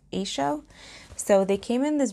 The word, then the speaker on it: Eigshow: EIG sh o W I've seen it being pronounced a show so they came in